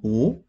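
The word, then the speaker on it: 不: từ này á Ở Chúng ta đọc là củ nhưng nó đi với từ xin đằng sau này thì nó đọc là cố nói chung bạn học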